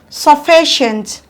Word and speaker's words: sufficient: the ending examples are sufficient counter from the back one two your stress falls on fee stress in the syllable